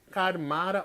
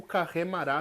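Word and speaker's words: Carmara: todo o sistema solar, que é chamado de Karmara ou Karremara, se você for pronunciar em enoquiano correto, né?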